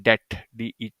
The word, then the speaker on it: debt: को देखा करें की बी इसमें साइलेंट होता है दे टी इसको हम ऐसे पढ़ते हैं काफी लोग इसमें बी को भी पढ़ जाते हैं इसको बी को था वो क्या है साइलेंट होता है डेड इसको हम प्रोनाउंस करते हैं ठीक है रिमेंबर बिकॉज